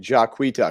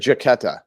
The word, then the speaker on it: Jacquita: just says idiot no but she should pronounce it out like when she's spelling it jacquita because she had to actually do that for me so i can get it because i always said jaketta jaketta i could say that